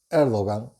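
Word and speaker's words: Erdoğan: en turquía el gobernante de turno que es el hogar que los turcos los pronuncian el 2 y aunque se escribe con erdogán está llevando a cabo una política económica absurda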